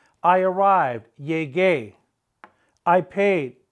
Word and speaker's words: llegué: They're going to have a gay at the end with an accent on the E. We must maintain the hard G sound, the ga sound.